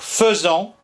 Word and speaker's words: faisant: des Parisiens à prévalu il faut donc dire faisant comme on dit je ferai et je ferai comme